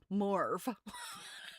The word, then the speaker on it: mauve: Victorians generally pronounce the word the word morv.